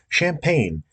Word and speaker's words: Champagne: CH represents the sha sound in French, but in English it pronounced the cha sound. Then next is the G, because the GN in French makes like a Spanish nye sound, nya, but that's not in English, so it's just an N.